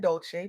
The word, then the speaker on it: Dolce: I'm your host Leanne Dolce, pronounced dolce like sweet softness whispered in French.